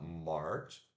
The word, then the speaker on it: March: o mês de março se fala morte tá m a r c h March mas se pronuncia é o som do m o a que engole a língua também né ou a o r puxado o som do t e som do de abacate Lembrando que esse texto